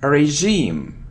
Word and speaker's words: regime: It isn't regime or regime, it's regime, regime. It's like A and regime, regime, regime.